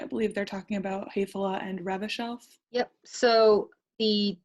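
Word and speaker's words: Häfele: I believe they're talking about Hefela and Remodel.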